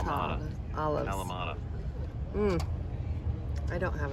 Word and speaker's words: Kalamata: How do you say it? Kamata Kalamata.